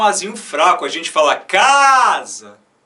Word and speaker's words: casa: A gente fala casa.